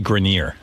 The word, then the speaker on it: Grenier: It's actually Grenier. Adrian Grenier. Okay. Yeah. Yeah, that's a tough one. I never knew how to pronounce that either.